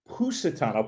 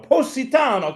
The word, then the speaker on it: Positano: Pusetano. Positano. Come on. You're half a No, that's what it is. I I thought that's that's how you pronounce it. Maybe with the right Italian accent, we can get the U sound in there.